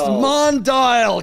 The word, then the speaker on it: Mondial: It's pronounced Mondial. Come on, Mondial.